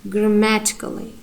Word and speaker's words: grammatically: So the next one, grammatically. Grammatically. You see? You see here, grammatically, ma gives our strong stress, and here other syllables are unstressed.